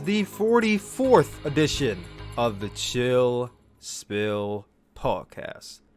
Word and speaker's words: Chill Spill: This is the 44th edition of the Chill Spill Podcast. The S is silent, by the way.